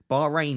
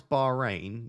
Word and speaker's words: Bahrain: threes in 10 minutes when you pronounce Bahrain you should pronounce the h it's not like Brighton rain Bahrain Bahrain is that it